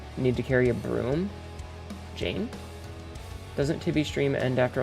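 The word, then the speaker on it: Jains: Jane Janes pronounced Jane sweep in front of them to prevent themselves from accidentally stepping on animals.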